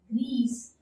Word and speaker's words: grise: Now the sound goes gris. So because of the vowel e, you have to pronounce this consonant gris, gris.